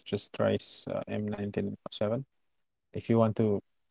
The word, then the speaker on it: Dreyse: Okay, so it's Dreyse, not Tracy.